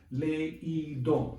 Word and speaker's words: leído: So that you don't pronounce the diphthong, the fusion of two vowels, you separate them by putting an accent mark on it. It's 2 syllables. 3 syllables. Leído, leído.